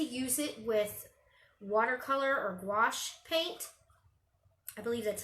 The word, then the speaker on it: gouache: I like to use it with watercolor or gouache paint.